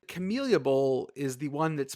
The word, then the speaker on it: Camellia: Central is the Camellia Bowl. You said it right. Camellia Bowl.